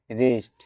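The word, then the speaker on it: wrist: ডব letter নিচে থাকবে ডবলিউ আর আই এসটি রিস্ট অর্থ কবজি এখানে ডাবলিউ লেটার দিশালেন থাকবে ডাবলিউ আর ইটি সি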